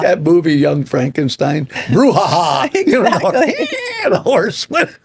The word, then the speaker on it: Borja: I thought it was Braha or whatever I said, Bruja, and it's like. No, it's Bruja.